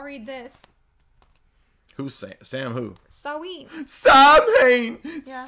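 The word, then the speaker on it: Samhain: Saween. Sam Hain. Yeah. Sam Hain. That's not how you say it. That's Frodo. I know. Sawayne.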